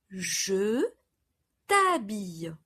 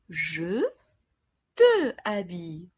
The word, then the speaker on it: je t'habille: I dress you. Je t'habille. Je t'habille. Instead of je te habille, which is incorrect, false in French. Je t'habille.